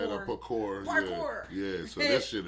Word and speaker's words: parkour: This is a game of tag right here, but it's like Pukar. And how they say it? Parkour.